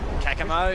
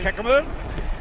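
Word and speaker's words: Caccamo: How would you pronounce that? Kakamo. Kakamo.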